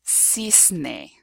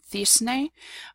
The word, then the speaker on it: cisne: So if you have, for example, a CE or a CI, the word will be pronounced, the letter C will be pronounced S. So for example, in the word cejas, which is eyebrows, or in the word cisne, swan.